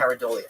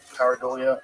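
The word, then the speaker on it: pareidolia: Paridolia. Paridolia.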